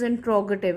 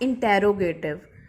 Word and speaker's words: interrogative: The correct pronunciation is interrogative. It's not interrogative.